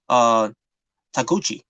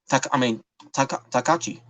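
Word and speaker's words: Taguchi: Not only he lost the match, but he lost to Takuchi. Takachi. Takuchi. Yeah. Ryusuke Takuchi. Sometimes I keep pronouncing his last name wrong sometimes.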